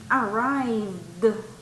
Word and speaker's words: arrived: Also, you have that one arrived, arrived, d. Listen, the D sound at the end, arrived, arrived. Recuerda que esa también la pronunciación al final es de, arrived.